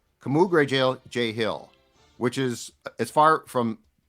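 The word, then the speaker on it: Kamu Grugier-Hill: Camu Grugier-Hill. So it's Camu Grugier-Hill. It's K-A-A. It's phonetically capital K-A-H, and then Mu, small M-O-O, and then it's Gru, G-R-E-W uppercase, and then J, J-A-Y small. Camu Grugier-Hill, which is as far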